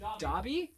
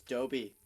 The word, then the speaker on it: Dobby: quick question m is missiles how do you pronounce the uh house self's name in Harry Potter Dobby okay thank you who said she been telling me it's Doby Doby we almost name that was one of